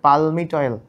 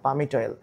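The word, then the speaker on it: palmitoyl: অনেক সময় পালমিটয়েল এল তো উচ্চারণ হবে না। পামিটয়েল এখন তোমাদের কি মনে আছে?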